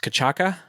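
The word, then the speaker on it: cachaça: So it's pronounced cachaca.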